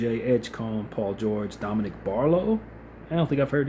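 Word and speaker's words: Barlow: Starters for the Sixers, Tyrese, Maxi, VJ, Edge, Cone, Paul George, Dominic Barlo. I don't think I've heard his name. Oh, Barlo. I think I probably had his name wrong.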